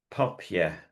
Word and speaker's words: papier: So rock, then papier. So the A, if you like, in papier is more like an O.